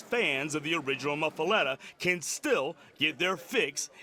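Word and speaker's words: muffuletta: went straight to the source the correct pronunciation pronunciation is muffaletta but most people say mufa but we don't try to change that because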